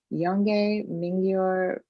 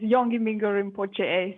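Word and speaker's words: Yongey Mingyur Rinpoche: of tibetan meditation master yonge mingyor i totally butchered that did i pronounce that completely wrong tiffany yes thank you sadie for introducing yes my teacher name is carla long is yongi mingo rinpoche so it's good it's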